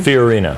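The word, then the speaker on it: Fiorina: say your last name furina okay yeah it's kind of like Ferrari okay but not quite all right well I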